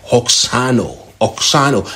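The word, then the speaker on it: αὐξάνω: Now, the word grew in this text is from the Greek word that is pronounced oxano, and it means to grow, to become greater, to increase, like a multitude of people.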